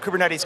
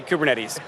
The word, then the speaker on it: Kubernetes: up this pronunciation but I was told it's pronounced something like ketes in Greek which stands for Helmsman but it originated on the west coast of the us so we say kubernetes kubernetes bro and and